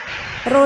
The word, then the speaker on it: rho: Ini bacanya rho ya teman-teman ya.